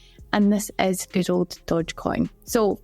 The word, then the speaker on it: Dogecoin: this is good old Dodge Coin so fun fact I seem to been pronouncing this wrong for the last four years I've always called it Dodge Coin and I believe it's actually called Dogecoin so we're just going